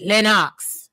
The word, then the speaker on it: Lennox: But you got to say it like that. Lenox. You know, you got to say it like a Jamaican.